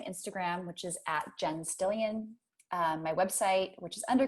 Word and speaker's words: Stillion: Jen with one N and Stillion it's like million, right? Just with an ST and no M in the beginning.